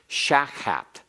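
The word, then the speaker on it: שחת: is a a uh segate noun accented on the first syllable shakat shakat is a place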